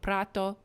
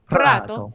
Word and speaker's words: Prato: Chinese workers and a fast fashion city of Prato, is how they say it. Prato.